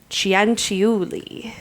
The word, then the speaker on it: Cianciulli: And then I said the last name, and she even spelled it out phonetically for me. We are going to be talking today about Leonarda Cianciulli.